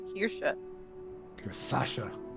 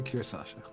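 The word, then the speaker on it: Kirsasha: the country of Solaria Oh kirasa I thought it was Kira Sasha can you spell it one more time capital k i r s a s ha literally cir Sasha I do know to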